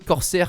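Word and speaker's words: Corsair: dans le beau boîtier corser carbide 200 40 r je crois que ça se prononce ainsi on voit aussi du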